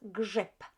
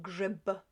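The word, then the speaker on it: grzyb: mushroom grip grip grip the p at the end of this word becomes we pronounce it as grip rather than grib right so grip grip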